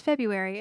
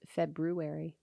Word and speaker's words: February: to be not pronounced february it is when when did we change it feb february well it's still got the r in there oh we just pronounce